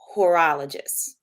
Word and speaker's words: horologist: So a lot of us do not know that this term watchmaking, the technical term is horologist. Is that correct? Yes, Oh, yeah, you pronounce that correctly.